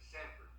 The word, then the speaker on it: Sanford: I had to make sure that I said all the syllables right there. But Put a D in there, Sanford.